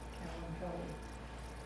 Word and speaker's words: Kalanchoe: Now that can be pronounced many ways, but I looked up the pronunciation and that was correct, Kalanchoe.